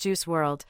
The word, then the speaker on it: Juice WRLD: December 8th 2019 known professionally as juice World pronounced juice World stylized as juice world was an American rapper